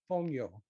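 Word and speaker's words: fonio: a new word you probably haven't heard of fongyo it is an african grain it's spelled f-o-n-i-o you'll see it in the description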